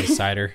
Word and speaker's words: CIDR: How do you pronounce that? I've heard it so many different ways, guys. I would say CIDR.